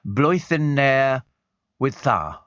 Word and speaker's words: Blwyddyn Newydd Dda: So if you like to try saying Happy New Year, it's phonetically Blwyddyn Newydd Dda.